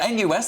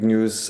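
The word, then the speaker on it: NIUS: Oh, it's pronounced news. I beg your pardon. I thought NUS, the National Union of Students.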